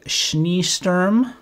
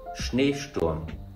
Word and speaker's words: Schneesturm: The Haifisch Grau, the Schneesturm, please don't hold back making fun of my German, and the Pop Orange. I know I got one of those right, unless it's pronounced Popo Range. Actually, to see how I did, here's my German friend Vimal. Haifischgrau, Schneesturm, Pop Orange. Well, so 0 for 3.